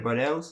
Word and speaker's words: Bardaels: Bardaels.